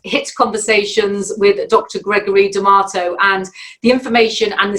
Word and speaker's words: Damato: Oh, Damato. Tomato. Right. Okay. Damato. Damato. So it's like tomato, but Damato. Yeah, Damato. Well, welcome back to this second episode of HIT Conversations with Dr. Gregory Damato.